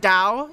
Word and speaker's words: Tao: Tao is or like it's it's pronounced Dao in English, is that because it's supposed to be unaspirated and English speakers have trouble saying it like that?